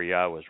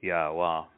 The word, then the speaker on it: Yahweh: He introduced himself using the verb haya, explains how to pronounce 3 of the 4 letters in Yahweh's name, taking the mystery away.